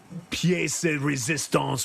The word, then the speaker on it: pièce de résistance: And then the you know, pièce de résistance, whatever that is, however you say that.